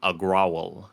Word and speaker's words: Agrawal: over jack dorsey um agrowl i believe is that's the way you pronounce their name uh it's unclear whether